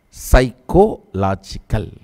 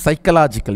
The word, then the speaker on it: psychological: Psychological. Actually, you should all pronounce this word only from now on this way only. You should not pronounce psychological. You should pronounce as psycho-logical.